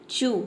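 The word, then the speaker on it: chew: का next rule है यदि किसी वर्ड के अंत में सी एच एस एच एल और आर के बाद अगर ई डब्लू आता है तो वहां पे ई डब्लू को हमें क्या प्रोनाउंस करना है उ प्रोनाउंस करना है उ यहां पे जोड़ देके प्रोनाउंस करना है बड़ी ऊ आप देख सकते हैं बड़ी ऊ है उ चू एग्जांपल देखते हैं चू यहां पे देखते हैं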